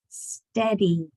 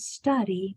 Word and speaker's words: steady: Steady. Not study, but we have to pronounce this eh very clearly.